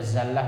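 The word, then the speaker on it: زلة: zallatulimi ada lagi kitab hati-hati baca zallah Ya zallah itu pakai Zai artinya tergelincir kalau pakai D D D yang Dal B titik itu D ya itu bacanya Dillah artinya hina ya Dillah dalla yadullu itu hina kalau zalla yaalla yazullu itu artinya tergelincir zalla zalla yazullu zalla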